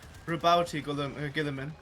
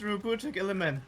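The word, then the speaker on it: Roboute Guilliman: Like it so many people pronounce Giliman Rabouti Giliman. It's it's rut gilman.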